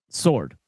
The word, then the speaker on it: sword: The W is silent, Parker.